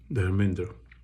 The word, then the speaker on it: धर्मेंद्र: किसी भी जनरेशन के बच्चे और यंगस्टर्स धर्मेंद्र नहीं कहते, जो हिंदी में उच्चारण होता है उनके नाम का, जो पंजाबी में कहते हैं धर्मिंदर या धर्म गरम या धर्म।